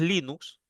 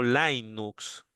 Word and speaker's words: Linux: Ojo que el nombre es Linux, eh, así como lo estoy pronunciando, eh, no Linux. Eh, acuérdense que Linus con S es el nombre del creador. Entonces, si yo le pongo una X al final, lo más lógico es que suene similar, pues no, al nombre del creador Linux.